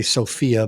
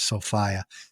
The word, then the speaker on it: Sophia: the Princess Sofia or some people say Sophia but the way they pronounced it was sofiah uh if anybody that